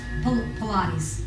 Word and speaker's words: Pilates: a class on pilates right and that is pronounced pilates p-u-h palatine okay so um nancy if you'll go ahead and okay great demonstration then uh right we'll show you what i can okay great well pilates is something that's better experienced than actually described